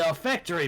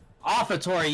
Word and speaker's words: offertory: Oh, I can see the olfactory box. Is that how you say it? Olfactory? Olfactory. Olfactory? Olfactory? Offertory, yeah, because it's an offer.